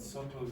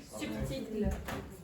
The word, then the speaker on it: subtle: So if I say and subtle use, indirect, it's not very direct. Okay. Sutil. Subtil. Or in Spanish. Subtil. What is the pronunciation? Subtil. No, en anglais. No, in English. Subtle. Subtle. Okay, all right.